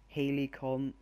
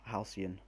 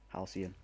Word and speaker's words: Halcyon: Helicon. I can't say that word. I'll go with Halcyon. There we go. That's how you pronounce it. Boom. Halcyon.